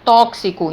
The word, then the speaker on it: tóxico: que e um se na palavra tóxico é gravado com x mas quando eu pronuncia eu falo tóxico então x ele representa